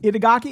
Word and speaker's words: Itagaki: Itagaki, isn't that how? I didn't want to just butcher his name without my man. It sounds exactly how it's spelled, but okay.